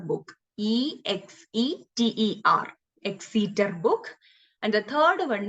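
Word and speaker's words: Exeter: junior manuscript and the second one is like exceeder book e-x-e-t-e-r exceeder book and the third one is very silly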